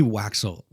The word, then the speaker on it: Waxel: Waxel. Is that pronounced correctly, Waxel?